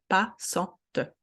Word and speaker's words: passante: A-N together, en, passant, and then T-E, T as a best friend vowel, is get pronounced. Passante, une passante. So the pronunciation changed because we added E, it's creating a new syllable.